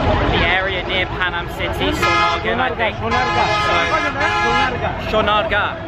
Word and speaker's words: Sonargaon: area near Panama City Sean our gap that's how you pronounce it okay yeah so that's